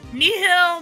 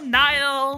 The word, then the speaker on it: Nihil: Nihil, Nile, Nil, however you want to pronounce it, all of them are correct in my mind.